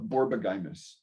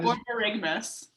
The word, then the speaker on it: borborygmus: You talk about the medical word I love, borbogymus. Borbogymus sounds in your gut. Borbogymus. So it makes That's sense. a Borborygmus. Huh? Borborygmus. Thank you. Correct pronunciation. She has the correct pronunciation.